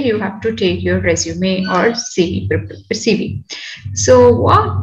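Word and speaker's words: résumé: to pronounce it as resume so this is uh the word which we have taken from the french word and that means summary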